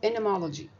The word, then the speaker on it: entomology: علم الانتومولوجي ده علم شيق جدا، والنطق بتاعه اللي هو الامريكان، تعرفين انا بنطق امريكان اكسنت، فالان وراها تي مش بتنطق، فاسمه انمولوجي.